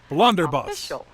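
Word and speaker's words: blunderbuss: we should accent the word so the correct pronunciation is blunderbus that was close not bad other dictionaries may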